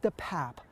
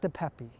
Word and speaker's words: DePape: For starter, the district attorney says the suspect's name is actually pronounced David DePape, not DePepe. At the time that the suspect, Mr. DePape, entered the Pelosi home, that he was in fact looking for Miss Pelosi.